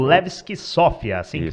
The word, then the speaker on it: Levski: Que você ganhou lá com o Levski Sofia, assim que pronuncia mesmo? Isso, Levski da Sofia, né?